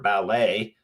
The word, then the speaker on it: ballet: up from another language, and in that language, the T is silent. Okay, so what's my point? That is the way to understand how to pronounce the word ballet when you see it is just to memorize the word ballet, and you don't say ballet.